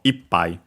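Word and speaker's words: いっぱい: So ippai. the accent on the E.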